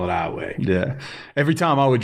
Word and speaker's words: Iowa: in Southwest Louisiana in a little town called iway uh it's spelled IO wa it's a lot of big